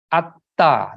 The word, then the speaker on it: attha: Purisa Yugani, Atta, the A-T-T-H-A, A-T and At, and then T-H-A is Ta.